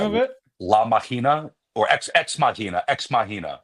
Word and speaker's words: Ex Machina: La Machina or Ex Machina. Ex Machina. Ex Machina.